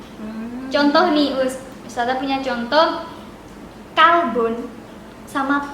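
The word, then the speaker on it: كلب: Kolbun sama kalbun. Mirip nggak? Mirip ya? Sama ya artinya, iya. Nah, Sama atau beda? Kolbun, kof lamba sama kaf lamba. Nah, beda di depannya tapi hampir sama ini pengucapannya.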